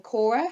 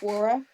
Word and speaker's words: Quora: So I thought it was interesting because I found a thread on Cora, how do you say that, Quora.